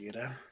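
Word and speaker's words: Yda: Because they were all saying Yida before, but he said Ida.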